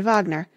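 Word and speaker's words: Wagner: is a list of the operas by rard Vagner with their names pronounced the fairies 1833 D lius forbo 1836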